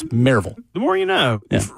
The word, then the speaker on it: Maryville: Don't ever let anyone say it's Maryville either. It's Maryville. The more you know. Yeah. Drop the O is what we're saying. There's no O in Maryville.